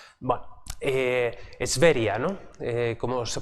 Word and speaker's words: Sverige: de pasajeros y Sverige, ¿no? Como se pronuncia más o menos en sueco, o en ese sentido suena, ¿no?